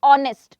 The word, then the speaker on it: honest: It's never about, see there is a mute sound of H, honest. Honest, when we say H sound is muted.